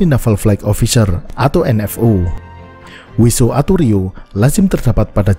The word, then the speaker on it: WSO: WSO sering diucapkan sebagai WISO.